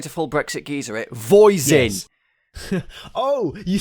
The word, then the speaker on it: Voisin: Voisin.